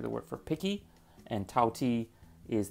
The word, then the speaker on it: Tao Ti: word for picky and tau t is the cantonese pronunciation of daodi which is the name